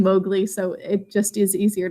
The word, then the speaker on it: Mowgli: learned this also that mowgli is supposed to be pronounced maugley by the way but it just we are so used to saying mowgli so it just is